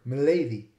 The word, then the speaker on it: milady: other places there are some Curious word Milady which comes from my lady but ends up being pronounced with a short vowel in the eye so Melody is the way so it comes from my lady but the eye became short so it's milady before the Great Vowel